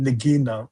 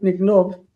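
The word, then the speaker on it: נגנב: Nignov, or is it nigino? Nignov. Mhm. It's what? You're right, Nignov.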